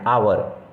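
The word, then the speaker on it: hour: इसके आगे क्यों भाई क्योंकि because आवर हैज a silent H आवर में तो एच साइलेंट हो गया और जब भी बोलते हैं तो उसे ओ यू आर आवर की तरह पढ़ते हैं तो इस प्रोनंसिएशन के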